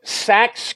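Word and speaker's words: Sachs: the only haunted places in gettysburg just so sax covered bridge and that's spelled s-a-c-h-s it's a covered bridge now it's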